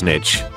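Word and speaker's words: niche: People who pronounce nish as nish. You think you're better than me. People who pronounce nish as nitch. I'm better than you.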